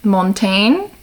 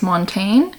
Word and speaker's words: Montaigne: And also like I'm reading a book about, I'm not gonna pronounce this right, Montaigne. I'm gonna say it's Montaigne.